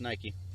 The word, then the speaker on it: Nihkee: Well, that would indicate it is supposed to be pronounced Nike.